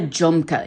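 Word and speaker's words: jhumka: And if you know what a junka is, it's spelled J Hu M K A.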